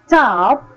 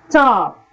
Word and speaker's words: top: square brackets enclose allophones the word top is pronounced with a path of air and it is called aspirated t alpha aspiration is indicated in you may also try by placing your hand in front of the mouth and say tah once again top can you feel the puff of air the word stop is